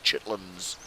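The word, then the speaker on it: chitterlings: they misspelled it chitlins it's spelled chitlins c h i TT e r l i n g and it pronounced chitlins it's uh processed intestine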